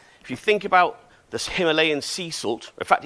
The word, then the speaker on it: Himalayan: you think about this Himalayan sea salt in fact even know it's pronounced Himalayan sea salt in some places I hear um it tells a